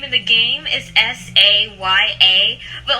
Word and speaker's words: Saaya: they spelled scio it's like the way they pronounce it is saya because there's two at the end right they